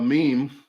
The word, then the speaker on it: meme: And I just made a meme. I say meme because it's M-E-M-E, me, not meme. If they want me to say meme, spell it M-E-E-M.